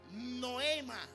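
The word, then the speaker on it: νόημα: Pensamiento es la palabra griega que se pronuncia Noema.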